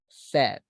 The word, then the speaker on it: said: it is pronounced as said said like in Spanish when we say I'm thirsty tengo said ah okay